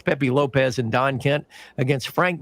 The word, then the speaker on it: Lopes: And it's not uh it's spelled Pepe Lopes, but that's Pepe Lopez and Don Kent against Frank Monty and Steve Kovac.